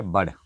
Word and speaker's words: بڑ: بر کہا جاتا ہے۔ نیکسٹ ہے بڑ، بے اڑے بڑ، یہ لفظوں کا جو تلفظ ہے اس کا بھی آپ نے دھیان رکھنا ہے۔ بڑ، تو بڑ ایک